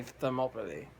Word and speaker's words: Thermopylae: Now, I deliberately mispronounced it because it's actually Thermopylae, like the city in Greece.